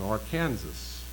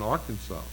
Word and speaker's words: Arkansas: One preferred the pronunciation Arkansas, and the other one Arkansas.